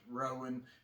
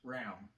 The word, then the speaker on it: Rowan: it is not pronounced rowan it is pronounced round okay it all runs together and it's pronounced round so just like this